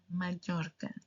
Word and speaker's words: Mallorca: So, now that you know, please don't go to Palma. de Mallorca. Palma de Mallorca. No, no palma de Mallorca. Mallorca. Same with other cities. Not Sevilla, Sevilla. Sevilla.